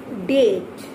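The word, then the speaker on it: debt: So next is just see date, date, date, d e b t, date, just pronounce with me, date, d e b t, date.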